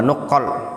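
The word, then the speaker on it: نقال: Fatashabbahu bi akhlaqihim wa tara'iqihim, atau itu bacanya wa nuqqal, bacanya nuqqal.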